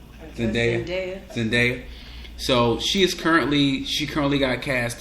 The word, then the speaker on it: Zendaya: She goes by the name of Zendaya. She's in a whole lot of Disney movies. Did I pronounce her name right? Zendaya.